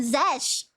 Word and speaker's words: Czech: Check. Oh, okay. You pronounce it as check.